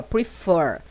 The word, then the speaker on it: prefer: Quando eu tiver um verbo com duas sílabas, ele tem que ser oxítono, como esse aqui, ó, prefer. Fur é a sílaba mais forte.